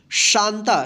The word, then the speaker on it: शांता: देखिए, ध्यान रखिएगा, जिस भी अक्षर पे बिंदी रहेगा और उसमें कोई भी मात्रा रहेगा तो उस अक्षर पे मात्रा के उच्चारण करते हुए तब उसके बाद जो है ना उस आधा यानी उस बिंदी के लिए आधा न का हम उच्चारण करेंगे।